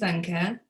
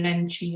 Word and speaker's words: Lenke: saying anything else so my name's anka um i listen to everything having a name that is not typical english you'll find people pronouncing it in a million ways so i've been nancy and lanku and all of those